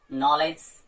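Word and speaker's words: knowledge: जैसे एज, तो इसमें डी साइलेंट हो गया आपका। नॉलेज, इसमें भी आपका डी साइलेंट हो गया क्योंकि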